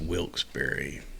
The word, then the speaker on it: Wilkes-Barre: Also, by the way, it's Wilkes-Barre. Know what I say? Wilkes-Barre is spelled bar, but they say I heard it's pronounced Wilkes-Barre.